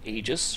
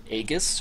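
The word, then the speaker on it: Aegis: punishment next up is the agis or agus however you want to pronounce it Gladius this is a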